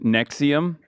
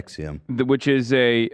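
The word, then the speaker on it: NXIVM: is what is similar to what happened with Nexium. I don't know if I'm saying it correctly. Yeah, Nexium.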